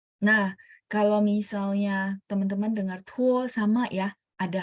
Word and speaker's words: 拖: Nah, kalau misalnya teman-teman mau yang praktis, tuo th tulisnya t ya, tuo. Bacanya thuo gitu ya.